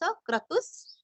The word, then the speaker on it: क्रतुः: क्रतु क्रम का क्र, तू रस्व विसर्ग का आधा स, क्रतुस क्रतुस।